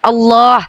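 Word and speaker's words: الله: Transliterasi namanya tetap kaidahnya harus menggunakan kaidah bahasa Arab ditafkim bacanya ditebalkan Allah karena ada huruf lam jalalahnya.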